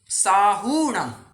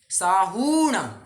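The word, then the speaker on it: साहूणं: There is another hack, Sahu कह करके वहां पर पहले उकार नहीं है, बड़ा वाला उकार है, तो जब भी एक दीर्घ मात्रा आती है उसका उच्चारण भी दीर्घ हुआ करता है, बराबर। उच्चारण दीर्घ है तो हमें भी उस तरह से पढ़ना आवश्यक है। तो हाँ, साहूणम, साहूणम, आपको थोड़ा बड़ा प्रोनाउंसिएशन करना होगा, स्पीड थोड़ी सी कम, ठीक।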